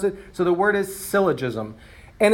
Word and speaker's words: syllogism: They kind of don't know how to pronounce it. So the word is syllogism.